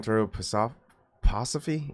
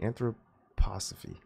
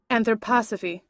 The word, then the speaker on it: anthroposophy: start moving into an Pteropus off Passa fee anthroposophy you pronounced it anthroposophy anthroposophy thank you lady okay so